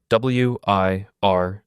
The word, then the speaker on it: Wirtgen: The Wirtgen Group, spelled W-I-R-T-G-E-N, pronounced Wirtgen.